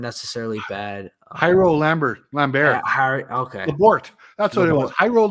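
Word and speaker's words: Labourt: You also got, I believe, another left-handed pitcher, Jario Lambert, I think it was how you pronounced it, for David Price. So I don't think those trades weren't necessarily bad. Jairo Lambert. Okay. Labort.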